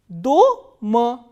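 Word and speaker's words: дома: In the first word, the vowel O is stressed. So, how will we pronounce this word? Do-ma, do-ma.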